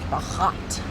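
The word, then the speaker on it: Berat: Bahhat.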